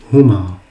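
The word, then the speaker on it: هما: Lorsque vous adressez à 2 garçons en leur absence, donc vous allez dire huma. Huma. Huma. Et donc huma est composé de 3 lettres. Donc le ha, le mim et le alif. Huma.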